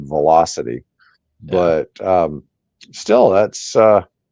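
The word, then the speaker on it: VoloCity: Zea Aro zero volocopter Volo City yeah cool well I I pronounced a Volo I'm sure they pronounce it velocity but um still that's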